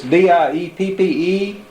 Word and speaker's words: Dieppe: They eventually tired of it, or so we thought, but now this is it's D-I-E-P-P-E, this is in... Yeah, yeah. How do you pronounce that?